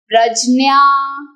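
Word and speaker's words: प्रज्ञा: बताइए झ्या झिन्या झिन्या तो अब मैं सही उच्चारण से आपको ये बताऊंगी बट डोंट गेट कंफ्यूज्ड ये है हाईएस्ट स्टेट ऑफ बुद्धि कॉल्ड प्रजन्या प्रजन्या ये है नॉलेजेबल पर्सन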